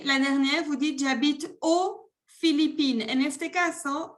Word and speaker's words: aux Philippines: Et la dernière, vous dites, j'habite aux Philippines. En este caso, el país empieza con consonante, por ende no se pronuncia la X.